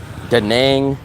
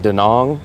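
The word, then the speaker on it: Da Nang: city same city and sometimes you'll hear people pronounce it dang some people pronounce it dong I'm a guy that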